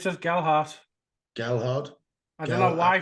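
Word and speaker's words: Gelhardt: Gelhard, yeah, there's no D in it.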